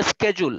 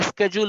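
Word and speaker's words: schedule: উচ্চারণটা হলো স্কেজুল, আমেরিকানরা বলে স্কেজুল, ব্রিটিশরা বলে সেজুল।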